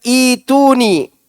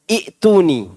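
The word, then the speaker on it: ائتوني: Kemudian Allah katakan, ituni Sini sebagian orang membacanya i'tuni. Sebenarnya bacaannya ituni.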